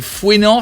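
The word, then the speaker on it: Fouesnant: Il y en a qui nous disent c'est fouénant, c'est sans le S la prononciation.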